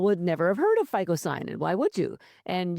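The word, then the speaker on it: phycocyanin: never have heard of FISON. And why would you? And you would think it would start with an F, but it doesn't.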